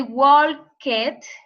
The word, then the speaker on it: walk: So you don't say walked, right? First, we don't pronounce the L. So in the present, we say walk, no walk, you know, walk, right?